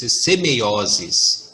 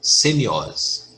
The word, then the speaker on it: semeiosis: semeion Ok pneu e que assim se e se pronuncia é o termo correto e semeiosis e não ser iOS porém tem mais detalhes